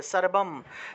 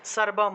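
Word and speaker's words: সর্বং: শেষে কি অনুস্বার আছে কোন একটা শব্দের শেষে অনুস্বার পেলে সেটা ম হিসেবে উচ্চারণ হবে সর্বম সর্বম উচ্চারণ হবে আর যদি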